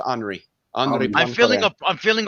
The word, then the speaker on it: Henri: And then everybody says Henry for his first name. I believe actually it would be pronounced Henri.